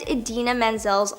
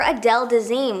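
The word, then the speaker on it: Idina Menzel: the one to present Adena Menzel's live performance of Let It Go now instead of saying her name he completely butchered it and called her Adele deine which is nowhere close to being right all he had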